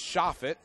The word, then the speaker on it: Shofit: So I just got a ruling on Alex's last name, and it's Shofit.